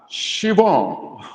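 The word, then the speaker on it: Siobhan: seed last week okay my name is pronounced as shivon oh my God shivon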